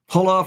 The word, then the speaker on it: hola: Hola from Mexico. Hola. Hola. Yes. I don't know very much Spanish. H is silent. Just like hola.